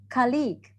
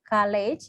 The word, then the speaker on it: colleague: okay next we have colleague colleague instead of college it's colleague khalid yeah it's different g sound yeah thank you so